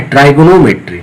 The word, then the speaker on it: trigonometry: हम लोग इंडिया में इसको ट्री बोल देते हैं, लेकिन इसको वैसे नाम क्या है, ट्राइगोनोमेट्री, ठीक है ना।